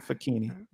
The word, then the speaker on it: Facchine: And it actually, so it's CCH, it's like zucchini, like a facchini, Alhamdulillah.